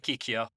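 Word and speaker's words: Kikyō: third most important character uh kikio kikio Sean pronounce it for me uh Kikyo kikio all right so we meet kikio who's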